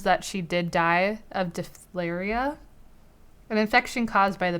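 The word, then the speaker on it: diphtheria: she actually died of de flair eeeh I think is how it's pronounced de flair eeeh in Cherokee Iowa in 1880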